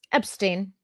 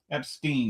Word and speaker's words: Epstein: Now, you pronounce it the German way.